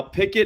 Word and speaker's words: Pikkit: Pickett is spelled Pikkit.